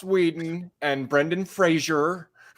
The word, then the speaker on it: Whedon: he's he's dreamy uh you said it wrong his last name's Wheaton zax loves the weak sarcasm no it's Joss Whedon and Brendan Frazier